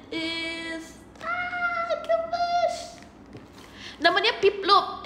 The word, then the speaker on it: Piplup: ah to much namanya pip Loop is how you pronounce it pip Loop piplop namanya